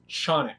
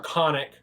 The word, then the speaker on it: Canik: company representative say it's Canik. Yeah, no, one said it to my face. It's the correct Turkish pronunciation. And I'm like, wow, great, I love my Canik. Or Canik. Right. Or Canik.